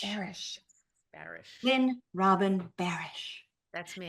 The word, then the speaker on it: Barasch: last name, so I really do want you to tell everybody how to correctly pronounce your last name. Oh, Lynne Robin Barasch. Barasch. Barasch.